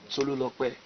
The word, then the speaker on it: Tolulokwe: Okay, all right, let me just pronounce it. My real name is Tolulokwe.